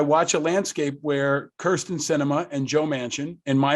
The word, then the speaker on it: Sinema: I saw you retweeted somebody who said, it outrages me that Sinema even rhymes with cinema, right?